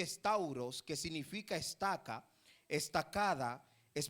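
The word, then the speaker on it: σταυρός: el término Cruz viene del griego que se pronuncia es tauros que significa Estaca estacada es palizada palo vertical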